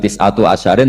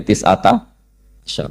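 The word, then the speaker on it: تسعة عشر: tetap bacanya bukan tisatu asyarin tapi tisata asar.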